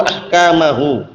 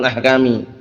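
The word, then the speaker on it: أحكامَ: Perhatikan di sini, bimisli hadzal bayani al-wadhihi yubayyinullahu ayatihi wa ahkamahu. Ayatihi itu mansub di situ ya, maf'ul bih, tanda nasabnya dengan kasrah karena jamak muannas salim. Ahkamahu ma'tuf, ahkama bacanya, bukan ahkami.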